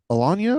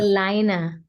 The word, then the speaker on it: Elayna: Is it Alanya or Alaya? How do you say that? I'm not sure. Elayna. Elayna.